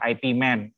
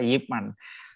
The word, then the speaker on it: Ip Man: sekarang jadi film tuh Ip Man bacanya ternyata Yip Man itu gurunya Bruce Lee